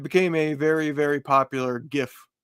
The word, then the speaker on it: GIF: a very very popular GIF and I say GIF for those of you out there that thinks it's pronounced like a peanut butter um we usually give